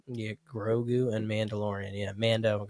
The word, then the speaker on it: Grogu: But yeah, I'm excited to see if we can get on it with Mando and Roku. And did I say that wrong? Yeah, Grogu and Mandalorian.